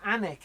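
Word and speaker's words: Alnwick: yeah it's barrack and anak but anak is spelt all Wieck Britain's weird for pronunciation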